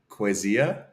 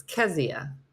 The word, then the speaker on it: Kezia: Is it is it Quezia? That's close to how I used to say it, but that's not how you say it. How would you pronounce? I know how you pronounce it. So you're saying Quezia? It's Kezia. Kezia.